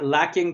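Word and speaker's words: Luckin: one it's uh uh i know maybe it's supposed to pronounce this looking coffee but it's uh it's not too too old it's l-u-c-k-i-n yeah so it's looking looking maybe i don't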